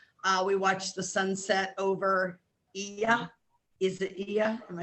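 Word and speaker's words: Oia: We watched the sunset over Ia.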